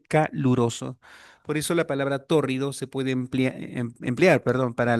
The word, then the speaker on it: tórrido: Una fácil torrido T de tasa o do R y D de dado o con tilde sobre la primera sílaba Tórrido.